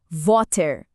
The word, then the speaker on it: water: Como a gente pronunciaria a palavra water? Primeiro o W com aquele som de V suave. Depois o a bem aberto como em pá. E por fim o som do air vibrante. Juntando tudo, water.